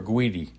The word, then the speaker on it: Urquidy: Urquidy or Urquidy? Well, it's a Q. Oh, it's Urquidy. Spelled with a Q.